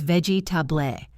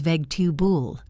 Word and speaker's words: vegetable: Look at the word vegetable. A student reads it as vegetable. 4 syllables. A native speaker says vegetaboul. 3 syllables, and the middle one is a schwa.